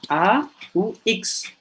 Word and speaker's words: aux: Yang sering digunakan adalah A, U, X. Bacanya sama, c'est la même prononciation, on, O.